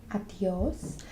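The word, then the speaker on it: adiós: Adios. And adios has an accent as well on the stress it a little bit.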